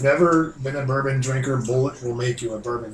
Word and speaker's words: Bulleit: think it's just Bullet. I haven't heard Bullet. it pronounced.